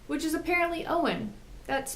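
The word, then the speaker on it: Eoin: spelled II oh I n which is apparently Owen that's pronounced Owen yeah thinkin now I know at the end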